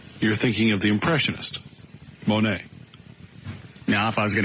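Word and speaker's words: Monet: Monae what I say oir how do you spell it m o n e t Al it's monate I must be thinking of somebody else you're thinking of the impressionist Monae now if I was going to get a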